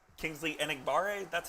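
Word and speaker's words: Enagbare: on day three ben eckhart says kingsley and igbarre that's how you say it right yep uh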